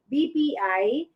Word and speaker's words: BPI: philippines b is it sorry it's not i pronounce it incorrectly it's b as in boy bpi bank is the best